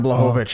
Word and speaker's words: Blachowicz: Now, listen, he was in there with Blachowicz. Am I pronouncing it right? In his last fight? Jan Blachowicz, yep.